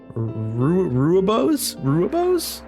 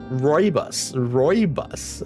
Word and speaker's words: Rooibos: Ruibos? I don't know what that is, Auntie. What is a ruibo? Or things like that. You might like red. Rooibos. Okay. Rooibos. I butchered that pronunciation horribly.